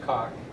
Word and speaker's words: Coq: I don't know how to pronounce it. COQ. It's pronounced COQ.